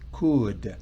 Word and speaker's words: could: Recuerdan, el pasado de can es could. C-O-U-L-D. Pero la L no se pronuncia.